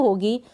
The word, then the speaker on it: who: तो यहाँ पर W का उच्चारण नहीं हो रहा है, W को हम नहीं पढ़ रहे हैं क्योंकि जो स्टार्ट हो रही है स्पेलिंग ही इतनी है WHO, तो हु ही पढ़ेंगे इसको। हु का मतलब है कौन।